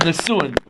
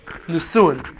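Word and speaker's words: נישואין: The second stage of marriage is called nisuin. It's spelled like this: Nun, Samech, Vav, Aleph, Yud, Nun. Nisuin.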